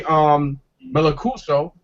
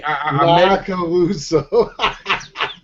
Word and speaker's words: Macaluso: Here it is, Jerry Melacuso. I mean, Macaluso. Well, how you pronounce his name? There's a big caboose. It's It's Macaluso. Macaluso. Yeah, I'm saying it wrong.